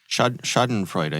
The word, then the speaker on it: Schadenfreude: are so many, how do you say it, Schadenfreude? Schadenfreude, yeah.